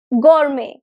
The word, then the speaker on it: gourmet: take this French word Gourmet it's a French word it's a French loan word it means high-end luxury dining experience so g t would be silent at the end because this is a